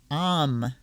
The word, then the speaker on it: om: gem simply means peace we speak it as follows um rhymes with pan um i'm shanty om